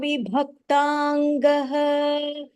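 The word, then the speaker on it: विभक्ताङ्गः: Samasama vibhaktangah. Snigdha varnah pratapavan. Purna vakyam. Samasama vibhaktangah. Bhaktangah. Mahapranah. Vibhaktangah. Snigdha varnah pratapavan. Okay, the bha and the dha, you have to stress it a little more, Varshini.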